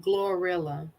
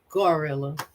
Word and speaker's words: GloRilla: you know I said glorilla your head listen and said gorilla yeah but it's it's dumb as Phil it's more like Gloria yeah it's spelled and